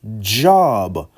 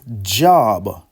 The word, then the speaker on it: Job: We can change how we pronounce Job. I don't know who changed that from pronouncing it Job to actually pronounce it as Job. J O B Job.